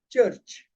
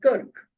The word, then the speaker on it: kirk: This is to be pronounced as church. Okay, it's not Kirk.